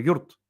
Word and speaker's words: йорт: А филологи обозначили как йорт, пишется как йорт. Но я йорт не говорю, я говорю юрт, юрт, да, коротко.